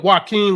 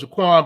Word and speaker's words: Jaquan: and I 100% believe, just like you stated, she went to Joaquin, and would you please stop saying Joaquin when your name is spelled Jaquan?